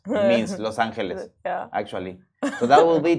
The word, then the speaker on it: Los Angeles: No, but in Spanish it's Los Angeles. In English will be, the angels. It means Los Angeles, actually.